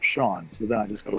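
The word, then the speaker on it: Seán: Irish in Irish that the a with the accents on it is what makes it Sean other than that it would be like Shadow pronunciation hmm not seen no not seen is that there's a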